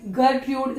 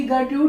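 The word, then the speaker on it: Gertrude: की डेथ हो चुकी है और ये है गटूड स्पेलिंग बता रही हूं जी ई आर टी आर यू डी गटूड इनकी मदर है और ये है क्लॉडियस सी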